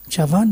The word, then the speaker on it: Chavan: We were afraid to approach the chief minister SP Chavan Chavan that's how you pronounce Chavan though he was the highest authority and we didn't know about him and how he would respond.